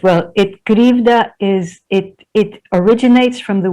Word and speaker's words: Krivda: Roll it for me as in the Russian. Krivda. Okay, and what does... Krivda. Krivda.